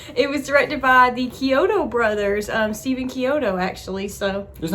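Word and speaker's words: Chiodo: It was directed by the Kyoto brothers, Stephen Kyoto, actually, so... Isn't that the restaurant you like, Kyoto's? Kyoto's, yes, pronounced the same, yeah.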